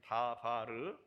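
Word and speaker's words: דבר: 다바르. 마스크 끼워가지고 발음이 제대로 안 되는 것 같아요. 다바르. 다 발랐다 해가지고 다바르라는 말씀이에요. 그런데 이것은 명령의 말씀입니다.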